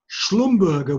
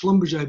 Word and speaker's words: Schlumberger: so so the word schlumberger would be the german pronunciation of the schlumberger name and it but but in the oil and gas industry it's pronounced schlumberger because americans americans yeah americans can't